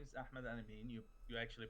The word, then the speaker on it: Ahmed Al-Ameen: this new comic well uh my name is ahmed anime you actually pronounced my name right and you're actually the